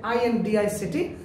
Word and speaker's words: indict: of the students they successfully fail to pronounce this word and say INDICT, they say indict, not indict, indict.